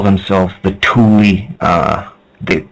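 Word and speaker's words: Thule: and the atlantans used to call themselves the Tuli uh the like T hu l e but pronounced t o l i e that's what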